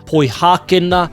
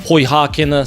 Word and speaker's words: Poihākena: They are poihākena and poipiripi.